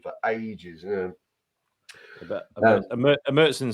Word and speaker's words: Märzen: If you like a Bock or a Märzen, which apparently is how you're supposed to pronounce it, not Marzen, like uncultured swines like me have been pronouncing it for donkey's years.